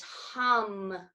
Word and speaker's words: hung: that we'll use is hung it sounds like hu in hum will do it three